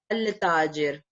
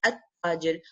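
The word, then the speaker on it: التاجر: I did not say al tajir, right? I said at tajir.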